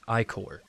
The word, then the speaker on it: ichor: Unfortunately, the magical ichor, that's pronounced ichor.